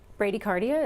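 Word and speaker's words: bradycardia: Vera McLoud has a question is Brady cardia Brady cardia is that how you say it yes is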